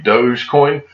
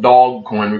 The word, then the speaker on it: Dogecoin: I think the right pronunciation may be Dogecoin, but I call it dog coin because I was made fun of a while back for saying that.